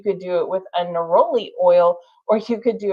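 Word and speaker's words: neroli: And uh some used uh naroli n e r o l i.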